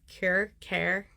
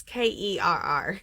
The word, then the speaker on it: Kerr: But as long as you're buying like Ball Brand or I say it wrong, Care. It's Kerr. So I always say Ball Brand.